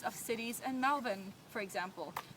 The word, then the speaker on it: Melbourne: Now most Americans that I've heard who have never been to Australia pronounce it Melbourne. Now that's not at all how you should say it.